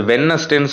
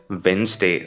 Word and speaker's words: Wednesday: அது வென்னஸ்டேன்னு சொல்லக்கூடாது, நம்ம சின்ன வயசுலேருந்து வென்னஸ்டே, வெட்னஸ்டேன்னு சொல்லி பழகுவோம், தட்ஸ் ராங். அங்கே வந்து டி வந்து silent, you have to pronounce it அஸ் வென்ஸ்டே, ஓகேங்களா.